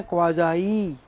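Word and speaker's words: quasi: इसका उच्चारण है क्वाजाई, जो बोलते हैं भोजाई, वैसे क्या है?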